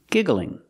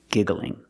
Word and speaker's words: giggling: a continuous form giggling pronunciation giggling giggling put the stress on the first syllable giggling so it should be